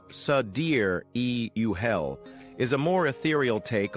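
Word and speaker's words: Sideræl: The final part of the name, Sidereal, pronounced Sadir-e-Uhel, is a more ethereal take on sidereal, meaning star time or deep space-time, contrasting with Earth's relative time.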